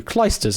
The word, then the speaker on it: Clijsters: Clijsters is apparently the way to pronounce it.